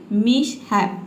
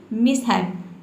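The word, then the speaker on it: mishap: A very big मिशहैप, इसको हम पढ़ेंगे मिशहैप। ठीक है, यहाँ पे देखिए इसका मैंने प्रोनाउंसिएशन लिख दिया, इसका क्या पढ़ना है मिशहैप, मिशहैप। यहाँ पे जो एस है इसको आधा सा पढ़ना है मिशहैप।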